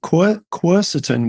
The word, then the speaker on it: quercetin: Quercetin, which is also sometimes pronounced quercetin by our friends in North America, is something that Dr.